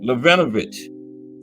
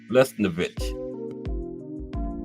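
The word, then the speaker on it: Lesnevich: Gus Levinovich also served. There's Gus. Okay, I said his name wrong. Gus Lesnovich.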